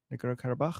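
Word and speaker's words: Nagorno-Karabakh: Is that how you pronounce it in English? Yeah, Nagorno Karabakh.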